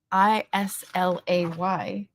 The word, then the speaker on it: Islay: Louis Abyispo is because we actually have a street one over from the one I grew up on spelled I S L A Y and we pronounce it islay.